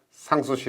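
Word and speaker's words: Sans Souci: c 의 궁전 이라고 불어 발음으로 상 소시 란 말은 어 근심이 없다 는 뜻이 랍니다 이상 수시 근심 없는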